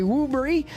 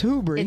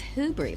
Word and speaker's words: Hoobry: I also want to send a shout out to Terry Woobry. I always say it wrong. It's Hoobry. It's Hoobry, like who?